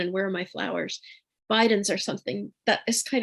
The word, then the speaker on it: Bidens: Bidens are something that is kind of sweet for them. you spell that? Bidens. Okay, thank you. Yeah. And I think of them as abiding. Bidens abides, right?